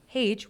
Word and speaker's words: Hage: And then under Paige, which I wrote out phonetically, I put like Paige and they pronounced my name.